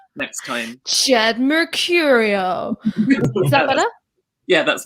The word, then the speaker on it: Jed Mercurio: a second point, Ash, you've been pronouncing the name Jed Mercurio as if it's a normal name, and I can't have that. So, like, you should be saying Jed Mercurio, or just say it like that maybe next time.